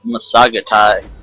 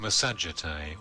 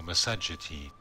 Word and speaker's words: Massagetae: Okay, he said Massagetae. I specifically looked up how to say this before I started the video, and that was not one of the pronunciations. Let me see if I can play this here. Massagetae or Massagetae.